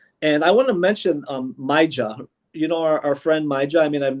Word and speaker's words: Maija: Or is it Maya? How do I pronounce it? Oh, yes, Maya.